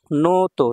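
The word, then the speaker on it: ノート: শিনবুন হচ্ছে পত্রিকা newspaper নোতন notebook নোতো দেখেন এখানে একটা টান আছে হ্যাঁ এজন্য এভাবে পড়তে হবে নোতো টানের সামনের বর্ণটা একটু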